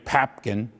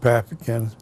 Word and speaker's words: Papkin: After he left and went to other communities, he was succeeded by Rabbi Hyman Papkin, P-A-P-K-I-N. Sometimes it's spelled Popkin, like in Jewish, P-O-P-K-I-N.